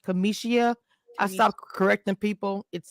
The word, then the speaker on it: Cameshia: my name is Kamisha but my name is pronounced Kamisha I sto correcting people it takes I just